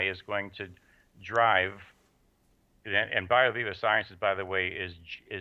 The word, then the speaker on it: BioViva: And then you also have the I'm not sure I'm going to pronounce it right, BioVia. BioViva, V-I-V-A.